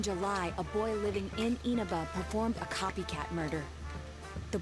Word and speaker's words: Inaba: Last month, the suspect attempted to kidnap a seven-year-old girl of Inaba, resulting in his arrest. Um, actually, it's pronounced Enaba.